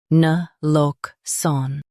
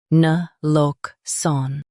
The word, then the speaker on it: naloxone: Both US and UK have the same pronunciation of this word. Na-lox-one. Now read the syllables shown on the screen naturally. Na. Lox-one. Na-lox-one. Stress lock and keep sun soft.